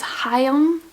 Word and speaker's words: Chaim: Okay, according to the YouTube video that I watched, it is Chaim, even though it's pronounced C-H-A-I-M. It is a Hebrew name.